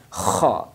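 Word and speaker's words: خ: Then kha, its sound is special, kha, like kha. So this is kha.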